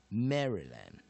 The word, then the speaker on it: Maryland: 然后第二个音节 Y 再重复 repeat 一次，再当再借位再当母音用，所以它就是念二。第三个音节 A 当落母音念二，所以念 lentMaryland, Maryland, Maryland. 好，进阶解释最后一次，M A R syllable Y syllable L A N G, main